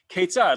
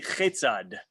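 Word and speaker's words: כיצד: Ketzad, look at that dot in the middle of ketzad. That's a kaf. If it wasn't, there was no dot there, it would be chetzad, right? So that dagesh, that dot, makes a difference in the pronunciation, right? It turns a k into a ch when it's not there.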